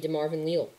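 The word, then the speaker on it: DeMarvin Leal: pure run stopper and that's going to be de marvin leo i've realized that's how you pronounce his name de marvin leo um i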